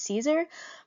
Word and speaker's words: Caesar: I know the pronunciation of my podcast is wrong, and I knew this pretty early on. The proper phonetic pronunciation of my title is Caesar, but Cesar sounded like a cooler title, so I kind of leaned into it.